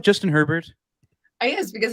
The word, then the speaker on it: Herbert: Elena, do you like Justin Herbert? Yes, because his name rhymes with Sherbert.